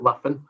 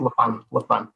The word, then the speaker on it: Laffan: So it's always, everybody's always kind of pronounced it Laffan or Laughing.